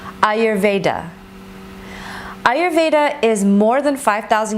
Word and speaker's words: Ayurveda: Ayurveda is pronounced A-yer-ve-da. Ayurveda.